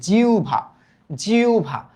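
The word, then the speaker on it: জিহ্বা: তবে হ এর উচ্চারণটা হয় উ এর মত। কিসের মত? উ এর মত। আর ব এর উচ্চারণ ভ এর মত। তাই দেখো এই যে এই জায়গায় জি আছে না? তাইলে এটা কি কিরকম উচ্চারণ হবে বলতো? জি লিখলাম। হ্যা হ এর উচ্চারণটা তখন কিরকম হয়ে যাবে? উ এর মত। জিউ এইযে আর ব এর উচ্চারণটা হয়ে যাবে ভ এর মত। জিউভা।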